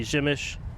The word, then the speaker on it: Przemyśl: If you're an English speaker, the chances of you thinking that the pronunciation would be Przemyśl are probably 0%.